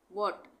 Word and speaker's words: what: Silent H, silent H में हम क्या पढ़ेंगे वर्ड्स को, देखो सबसे पहले WHAT, वॉट, इसको हम क्या पढ़ते हैं, वॉट, एच साइलेंट हो गया।